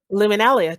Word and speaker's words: Luminalia: Luminalia, just like you just said it. You just said it. That's exactly how you pronounce it.